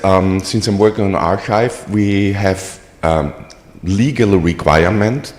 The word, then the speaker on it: arXiv: it's our just arive if you want pronunciation guide It's archive so it comes from the Greek letter he uh like the